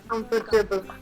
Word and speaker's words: comfortable: Comfortable. Comfortable. Comfortable. Sorry, Srinivas, can you repeat once more? Comfortable. Comfortable. Comfortable. Comfortable. Not the R, you don't pronounce. The R is silent here.